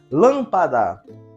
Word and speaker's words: lâmpada: maneira geral por exemplo lâmpada você vai perceber que ao pronunciar lâmpada a a sílaba lã eu pronunciei com mais intensidade E e o Tom